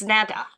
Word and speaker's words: Netta: I don't know how Netta or Nita pronounces her name. I do. It's Netta.